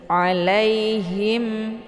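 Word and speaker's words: عليهم: salah itu kemudian Him Ini H cara baca H ditekan sedikit ya Jangan him jangan berbentuk seperti makharijul Huruf ya kalau nggak ditekan berarti hanya itu kurang jelas tapi ditekan sedikit alaihim him karena makarijul huruf H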